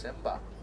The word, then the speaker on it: Simba: you guys may know how to pronounce a lion in Swahili it's actually pronounced Simba I'm gonna do the